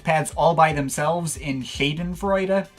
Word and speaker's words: Shadenfreude: all by themselves in Shadenfreude. Not Schadenfreude, it's spelled S-H, not S-C-H, so Shadenfreude.